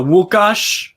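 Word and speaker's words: Łukasz: and comes on uh wukash that's how you say it in polish uh nufc hawaii the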